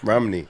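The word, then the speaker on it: Romany: Romney. Romney. Romney. Like Mitt. Like Mitt, but not white.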